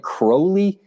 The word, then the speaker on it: Crowley: It does look like Crowley, but I believe it's pronounced Crowley. If anybody's watching that's a Southern Miss fan and wants to let me know that for a fact, you can certainly let us know in the comments. But yeah, I believe he likes it to be pronounced Crowley, more of an A than an O there at that point.